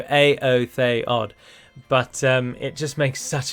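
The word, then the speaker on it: Éothéod: I used to call them Eothode, but it's just not pronounced that way. The accent on the E denotes that it is not a diphthong and it is an independent sound. So Aotheod.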